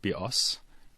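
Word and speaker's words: βιός: means life in Greek, and the word bios, with the stress on the second syllable, means bow, as in bow and arrow.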